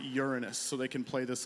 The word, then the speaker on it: Uranus: one other planet there some of you pronounce it like a body part but I'm going to pronounce it Uranus so they can play